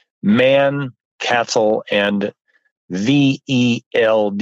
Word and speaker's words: veld: called Man, Cattle, and VELD. You pronounce the V as an F, and that word means grass.